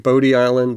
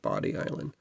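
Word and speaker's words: Bodie Island: Certainly looks like Bod Island, but I remember when I lived in North Carolina, they pronounced it Body Island.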